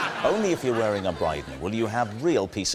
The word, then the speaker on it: Brydon: Only if you're wearing a Brydon will you have real peace of mind. Rhymes with Dryden.